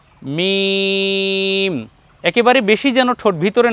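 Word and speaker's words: ميم: কিছু বর্ণ আছে যেমন মিম মিম কে শুকনা স্থানে লাগিয়ে উচ্চারণ করতে হয় দেখুন মিম মিম একেবারে বেশি যেন ঠোঁট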